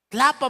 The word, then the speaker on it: Tlapa: Tlapa, mano. Pero a ver cómo se escribe. Dice como tlapalería, pues.